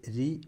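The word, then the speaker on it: ऋ: ഋ എന്ന അക്ഷരത്തിൽ ഉച്ചാരണം രി എന്നാണ്. അതുപോലെ ഹ്രസ്വം എ ഇല്ല, എ മാത്രമേ ഉള്ളൂ.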